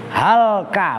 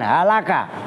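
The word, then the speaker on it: هلكى: bermula orang-orang yang alim halka bacanya begitu ya bukan halaqah itu binasa karena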